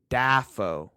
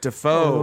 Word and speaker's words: Dafoe: little bit smoother smoother yeah but he pronounced his name in in that video as willem daffo dapho oh no and conan just talked about